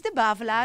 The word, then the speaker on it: de Bavelaar: I thought that I had to say his name in a very strange French way, but apparently he has Ch'ti roots. So he has some Flemish blood there. So it's de Bavelaar, as we say it in Dutch.